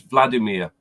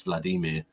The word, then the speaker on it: Vladimir: he has to talk he says hi my name's Vladimir as you would say it but that's wrong it's Vladimir yep y first syllable yeah that's why I'm